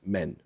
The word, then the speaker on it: Maine: yes the French depore is pronounced men including the cities of